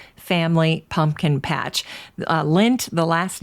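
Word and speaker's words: Lendt: able to go was lynn's pumpkin patch the lint family pumpkin patch lint the last name is spelled l-e-n-d-t good german spelling there now my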